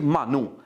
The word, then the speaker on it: मानू: मानू स्पेशली आप उसके प्रोनाउंसिएशन पर ध्यान दें क्योंकि मनप्रीत मन्नू मन्नू बहुत लोग कर रहे हैं। मन्नू कूसा नाम से भी पंजाब पुलिस ने इसका नाम डाला है, लेकिन इसका असल नाम जो पंजाबी का जो प्रोनाउंसिएशन है वो मनप्रीत मानू है।